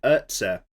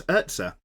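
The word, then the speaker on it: Erza: It's not Ezra, it's Urza.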